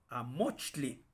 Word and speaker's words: amochtli: En el náhuatl, entonces también en general vamos a leer así, con esa acentuación grave. Amochtli, que significa libro, es amochtli.